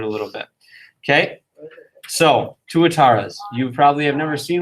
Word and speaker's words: tuatara: least like known are tuataras okay everybody everybody say this with me tuatara who's seen moana and it's like a name from moana it comes from myori language uh which is similar